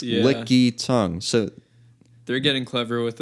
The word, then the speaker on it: Lickitung: a bit odd so it's it's licky tongue and tongue is spelled t-u-n-g instead of how instead of how tongues normally spelled right I spelled it